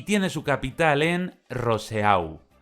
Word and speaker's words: Roseau: Es Dominica y tiene su capital en Roseau, que los franceses pronunciarían algo así como Rousseau.